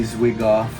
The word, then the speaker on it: Zwigoff: Terry Zwigoff. It just sounds like, yeah, Terry Zwigoff. Terry's wig off.